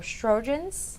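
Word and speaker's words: Sjögren's: And if you can help me pronounce these again, you said they were Sjogren's, Sjogren's.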